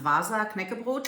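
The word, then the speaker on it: Wasa Knäckebrot: Anyways, it's a tin for, in German it's pronounced Vasa Knäckebrot.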